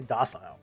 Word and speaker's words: docile: This guy says docile. I say docile. Well, that's how I pronounce it.